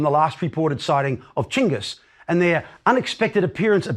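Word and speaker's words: Chinggis: of the city walls chingus by the way is the preferred way of pronouncing the great khan's name by mongol specialists today it is a more accurate rendering of his written name than genghis now this was hundreds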